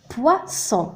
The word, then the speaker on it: poisson: ثم آخر كلمة هنا لدينا deux اس. donc ينطق س. poisson سمك.